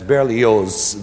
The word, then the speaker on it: Berlioz: That's Berlioz, the Z is pronounced.